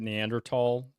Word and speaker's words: Neanderthal: tals uh by the way if you don't pronounce it neander tall archaeologists will mock you um which is annoying